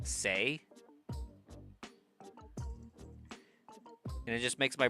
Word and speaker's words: C'est: vie, but like I know that that it's pronounced C'est.